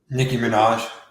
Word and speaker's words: Nicki Minaj: How do you pronounce that name, Mike, over in America? Nicki Minaj.